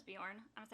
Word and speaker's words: Beorn: Or Beorn is how they say it in the movie. I always thought it was Bjorn.